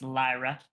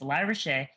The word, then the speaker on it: LyraShae: I'm LyraShae, pronounced Lyra. A lot of people don't know how to say it, but it's LyraShae.